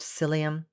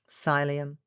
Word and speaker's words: psyllium: this for you because the word cylium doesn't look like it sounds or vice versa so it's p s y double l i u m and it might be pronounced psyllium cylium i don't know i'm used to saying it in french so anyhow you get